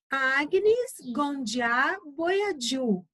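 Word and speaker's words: Agnes Gonxha Bojaxhiu: sobre Madre Teresa de Calcutá vamos lá a pronúncia de Agnes gond boadu é o nome dela tá bom então vamos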